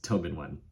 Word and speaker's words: TobenONE: out to them to to ask how to pronounce their name but it's Tobin one okay and they have a variety of products